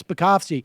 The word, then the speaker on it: Spakovsky: Hans V spasi uh SP uh I can't pronounce his name but spakovsky yeah yes spakovsky he was I I remember testifying quite a